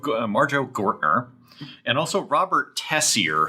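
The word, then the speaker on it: Marjoe: plummer how do you say marger it's uh marjo marjo gartner and also robert tessier who has been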